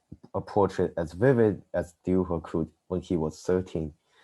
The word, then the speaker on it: Dürer: And this is a German, so I have to pronounce his name in German. Well, we have Dürer next.